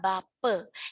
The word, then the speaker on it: bapa: Contoh kata bape, kita mengucapkannya bape, ya, tetapi penulisannya itu adalah bapa.